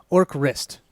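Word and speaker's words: Orcrist: and we're gonna get or crist I think I'm saying it right because it's fist or Crist okay / that's right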